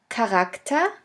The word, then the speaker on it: Charakter: In the third case, the CH can also be pronounced like a K if it is at the beginning of a word. Here we have the example of the word Charakter, which means character.